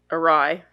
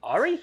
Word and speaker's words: awry: But things go awry? Yeah, all right. Awry? Ari? I always do that with that word because it's spelled A-W-R-Y.